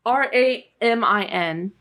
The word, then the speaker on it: Ramin: It's Ramin, and his last name is Karimloo.